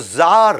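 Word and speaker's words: Czar: वैसे सी जार होता है, लेकिन सी साइलेंट होता है।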